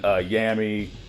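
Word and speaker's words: Yammy: characters like zamari and yamy or Yami whoever you want to pronounce his name as yeah it is weird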